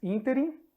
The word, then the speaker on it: ínterim: Então, temos ínterim e protótipo, em que a antepenúltima sílaba é a tônica.